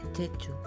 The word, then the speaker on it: Jeju: Jeju. Es la pronunciación.